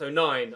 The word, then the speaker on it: O'Nien: Luke O'Nien, it's pronounced O'Nien, I'm reliably informed in the comment section, not Nian.